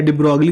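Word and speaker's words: de Broglie: उसके बाद फिर हमारे पास डिब्रॉय आते हैं, या डिब्रोगली, जिसको हम लोग कहते हैं डिब्रोगली या डिब्रॉय, उनका करेक्ट प्रोनाउंसिएशन है।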